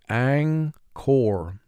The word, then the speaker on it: anchor: the word aang core notice n is representing its second sound because it's followed by the k sound when n is followed